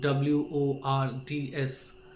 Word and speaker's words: Wordsworth: Henry Wadsworth or Wordsworth Longfellow was a Victorian poet, a pre-Raphaelite, while William Wordsworth, pronounced Wordsworth, was a Romantic poet.